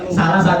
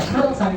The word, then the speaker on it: salasan: Salasan wis tiru siapa yang tahu ada jawabannya kenapa enggak dibaca salsan tapi dibacanya salasan.